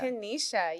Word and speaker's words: Kennisha: Kenisha.